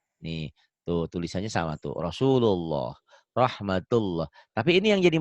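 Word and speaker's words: رسول الله: Lafaz Allah dibaca tebel kalau sebelumnya baris atas tuh domah ya. Ya. Rasulullah tuh ya dibacanya Rasulullah.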